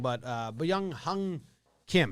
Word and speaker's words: Byung-Hyun: name wrong but uh young hung kim how do you pronounce it young han hyun kim that's like b young hyun is how really that's how baseball reverence has it i mean kim as